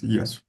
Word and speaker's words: Yasu: name did you say yasu yeah you're correct you pronounce it as yasu on the first yeah all right welcome